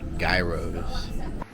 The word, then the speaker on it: gyro: Kind of like the currency euros, but, you know, with more of a y to it.